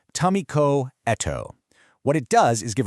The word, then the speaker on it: Tamiko Eto: This three-stage framework was developed by Tamikoto, and that's pronounced Tamiko Eto.